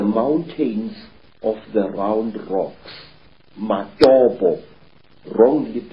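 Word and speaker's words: Matobo: place called the mountains of the round rocks mobo wrongly pronounced mopo in in Zimbabwe these Hills are really not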